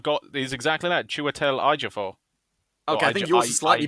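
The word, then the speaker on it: Chiwetel Ejiofor: phonetic spelling i've got this is exactly that chewatel iger for okay i think you're slightly better but i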